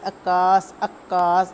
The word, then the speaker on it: عکاس: کا تلفظ واضح کیجیے۔ عکاس، عین زبر کاف اکاف زبر الف کاس سین ساکن عکاس۔ وابستگی، ایجادات، سہولت آمیزش۔